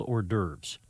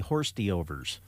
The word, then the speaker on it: hors d'oeuvres: I'm very proud of you for the way you have handled hors d'oeuvres. Oh. You've announced it and pronounced it well, because sometimes you'll say horsty-overs.